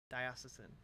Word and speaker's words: Diocesan: grew up very Catholic the pronunciation you played is accurate okay thiocesan all right Diocesan I'll try and remember